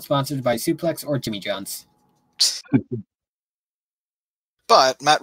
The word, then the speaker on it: SPLX: So it's pronounced Suplex. It's mainly a clothing brand, okay. Wrestling themed, and they sponsor certain wrestlers. All right, Suplex, got it.